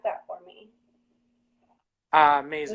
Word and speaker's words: Mazur: This is Mike, and I'm not going to butcher your last name, so pronounce that for me. Mazur. Mazur.